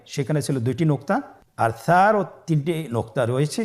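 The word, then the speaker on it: ث: আর সারও তিনটি নুক্তা রয়েছে। সেটা হল তার উপরে।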